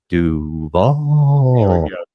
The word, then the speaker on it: Duval: Duval.